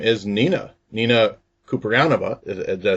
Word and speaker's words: Kouprianova: I have with me, her name is Nina Kouprianova.